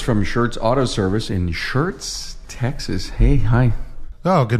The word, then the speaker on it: Schertz: A warm welcome to Mark Roberts from Schertz Auto Service in Schertz, Texas.